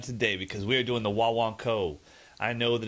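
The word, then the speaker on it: Guaguancó: boy I'm excited today because we're doing the wah wah Co I know that it's spelled Gua Gua co but it's pronounced Wan CO and it is without a doubt one of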